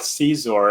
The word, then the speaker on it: Scizor: is what yeah yeah so like the scyther cyzor that's how i pronounce it but caesar's cute i